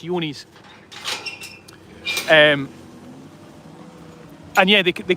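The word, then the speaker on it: Johne's: They can have dormant yonies where it's not and it's spelled J O H N S. Yonis.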